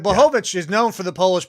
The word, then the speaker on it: Blachowicz: But our co-main event, Jan Blachowicz. I always fucked it up. I want to call him Blaskovich from fucking. Yeah. Well, and it was being pronounced in ways that I had not heard